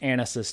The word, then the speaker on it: ANASIS: on right now and it is pronounced anisis too thanks for getting my